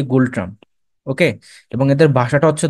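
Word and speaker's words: Ngultrum: মুদ্রা হচ্ছে gold ট্রাম্প এন দিয়ে শুরু বাট উচ্চারণ হবে গোল্ড ট্রাম্প ওকে এবং এদের ভাষাটা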